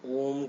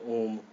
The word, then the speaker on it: ओम: बोल देते हैं, ओम, बट रियलिटी में क्या है, अ ओ म, ये 3 वर्ड से ये बनता है। जैसे हम बोलते हैं ये प्रॉपर फॉर्म है, इस तरह से हम इसको प्रोनाउंस करेंगे। सही तरीका ये है बोलने का।